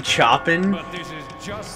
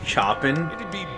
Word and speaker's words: Chopin: revolutionary etude you mean Chopin Chopin chopping chopping me and a friend had this debate once and I lost horribly because it is called Chopin but it is phonetically spelled like Chopin maybe if you're American